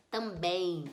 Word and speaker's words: também: mas tem um resso a palavra que termina em em a gente vai pensar como e i também então eu já adiciono aqui mais um i e eu fico com cinco fonemas também tem seis letras